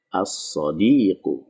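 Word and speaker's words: الصادق: Ya, sod ini masuk ke dalam huruf syamsiah sehingga dibacanya as-sodiqu.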